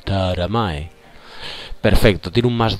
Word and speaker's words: Taramae: Tienes que parecer tonto cuando lo pronuncias. Taramae.